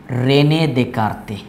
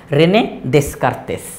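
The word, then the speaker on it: René Descartes: colour দিয়ে দেই ফরাসি দার্শনিক গণিতবিদ এবং বিজ্ঞানী রেনে দেকারতে রেনে দেতে এই যে রেনে দেতে কিন্তু ইংরেজি শব্দটা দেখে কেমন যেন উচ্চারণ এরকম মনে হয় রেনে দেসকারতেস তাইতো রেনে দেসার্তেস কিন্তু আসলে উচ্চারণটা কি রেনে দেতে রেনে দেতে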